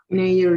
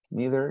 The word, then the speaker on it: neither: Now, the pronunciation is neither, like this, with an accent in the I, neither.